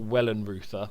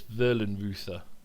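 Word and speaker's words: Wellenreuther: pronounced it's w so it's got to be pronounced V isn't it it's not Wellen Ruther so it's verin Ruther we'll call him Wellen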